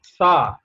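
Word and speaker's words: ثاء: And the third letter is Sa. Sa. Take the tip of your tongue to the upper teeth. Tip of the tongue to the upper teeth and pronounce it Sa.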